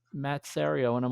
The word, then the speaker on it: Serio: So the people that answered the call are from Artigiano Serio. Yeah, I pronounce it correctly, unlike everyone else.